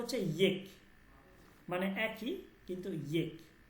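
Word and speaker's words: ایک: হে মানে হচ্ছে হে, মানে আল্লাহ এক এবং অদ্বিতীয়, আল্লাহ এক এবং অদ্বিতীয়, ঠিক আছে? আল্লাহ ইয়েক হে, এইটা বলবেন না আল্লাহ এক হে, এক বললে হচ্ছে এটা, এটা বাংলা উচ্চারণ হচ্ছে বাংলা, বলবেন ইয়েক, আল্লাহ ইয়েক হে, আল্লাহ এক এবং অদ্বিতীয়।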